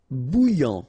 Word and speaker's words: bouillant: Bouillant, final T not pronounced. A and together, remember, nasal, en, okay? And then here you get bou, alright? And after that you get this yan, okay? Bouillant, bouillant.